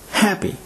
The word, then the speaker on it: happy: is pronounced table table the adjective happy is stressed on the first syllable and is pronounced happy happy rule number four stressed